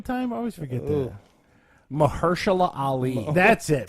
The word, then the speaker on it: Mahershala Ali: Mahershala Ali. That's it. Mahershala Ali.